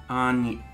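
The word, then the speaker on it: Áine: Anya. Okay. We would spell that A-N-Y-A, I think.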